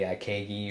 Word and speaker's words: ikigai: of their, what do the Japanese call the Ikegi or Ikigai. Or, Ikigai. yeah, yes, thank you. Obviously my pronunciation is terrible, but it's that combination of